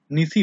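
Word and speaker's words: Gneiss: देखिए सर, जी से स्टार्ट हो रहा है, तो जीनिस नहीं होगा, निसी होगा सर, जी साइलेंट होता है, जी वाला, जियान वाला जो जी है ना, वो साइलेंट रहता है, ठीक है।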